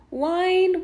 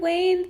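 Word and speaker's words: Wynn: my card I stayed one night at the wine Wayne the one that's spelled w-y-n-n Encore suite and it was very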